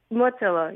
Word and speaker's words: Mottillo: Motilio or do I pronounce the L? Matillo. How do I say that? Motillo.